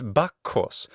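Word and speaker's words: Βάκχος: wine and drink and song also known as bakos or bakus in Latin bakus according to myth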